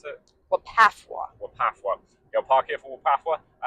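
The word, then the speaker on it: WPAFW: How do you pronounce it? Wapafwa.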